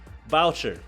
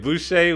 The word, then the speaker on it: Boucher: lot he's also he also plays starter minutes voucher boucher boucher i butchered it again boucher was too easy to turn down as good